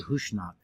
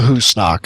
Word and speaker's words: Husnak: Or I kept wanting to Husnak. say Hushnak. It's the Husnak, I believe. Husnak. That's how Yeah, they pronounce it in the there's- show. There's definitely an SN sound in there.